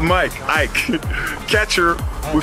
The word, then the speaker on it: Ike: Ike is the real name of saying my name because I'm Nigerian.